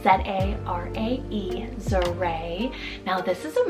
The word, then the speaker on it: Zarae: I have Zarae, spelled Z-A-R-A-E, Zarae. Now this is a much more softer sounding Z name. I really love that ending, Ray, Zarae.